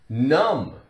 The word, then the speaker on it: numb: comb and use it to comb your hair numb numb ooh perhaps you've gone to the dentist